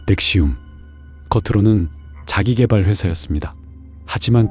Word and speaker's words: NXIVM: 단체의 이름은 NXIVM, 발음은 넥시움.